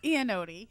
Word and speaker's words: Iannotti: Also with us today is Christine Iannotti. Is that right? Close. Iannotti.